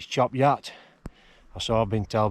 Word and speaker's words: Chop Gate: little village down there that's chop gate it's not job Gators it's chop yacht I saw a big